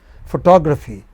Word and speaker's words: photography: Photography. Four syllables. And again, the second syllable from the beginning is stressed.